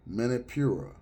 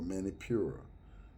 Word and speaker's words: Manipura: The Sanskrit name of this chakra is Manipura, or Manipura, whichever way you want to pronounce it.